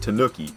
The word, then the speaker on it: Tanuki: Because it's Tom Nook like Tanuki. Tanuk. I guess maybe you say Tanuki. Tanuki? Is that right? I think it's Tanuki. Ooh. It's not... It's ooh. Tanu. Not Tanuk. I don't know, man.